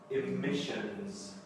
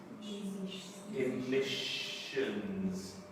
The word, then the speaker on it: emissions: Emissions. Okay, there's lots of S's. Emissions. Now, it starts with an E, but actually we pronounce it with an I. Emissions. Emissions.